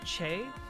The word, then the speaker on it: Che: You can call me Che, or Shay, pronounced Shay.